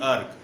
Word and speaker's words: erg: यूज करते हैं, ERG अर्ग। ठीक है, ठीक है, कुछ इसको प्रोनाउंस करते हैं अर्ज में, ठीक है, अर्ज बोलते हैं, अर्ग बोलते हैं, प्रोनाउंसिएशन है।